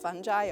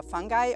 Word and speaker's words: fungi: For starters- Sigrid Jakob: First of all, pronunciation of fungi or fun-jee or fun-guy or fun-gee, it's all correct.